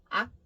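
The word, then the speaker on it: 악: Not quite K, but not quite G. So kind of in between ak, ak, ak sound.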